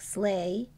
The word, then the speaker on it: sleigh: The GH is silent. IGH makes an I sound, like bright and light. EIGH makes an A sound, like sleigh and wait.